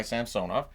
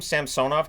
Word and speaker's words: Samsonov: a half minutes it are they going to go back to calling him samsonov because that's the right way to saying it not samsonov um and I I I